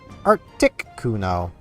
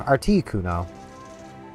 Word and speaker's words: Articuno: or as this says to pronounce it, Arcticuno instead of Articuno. Both work.